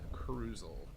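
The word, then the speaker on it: Kruzl: and then my uh IRL name is cruel crule that's spelled KR u z l this might be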